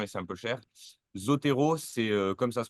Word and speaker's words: Zotero: mais c'est payant et c'est un peu cher Zotero c'est comme ça se prononce Z o T e r o euh